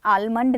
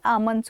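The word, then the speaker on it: almond: देखो इसकी भी ना प्रोनाउंसिएशन आलमंड नहीं होती, आमंड्स होती है.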